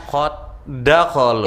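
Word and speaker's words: قد دخلوا: Qad dakhalu. Ya, buang dal yang pertama, naikkan tasdid ke dal yang kedua.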